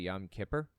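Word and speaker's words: Yom Kippur: yam kipor off and I understand the proper pronunciation is actually yam Kipper it just kind of depends on who you're talking too if you're talking to somebody who has like a Yiddish accent then they're probably going to pronounce it yam Kipper I think I heard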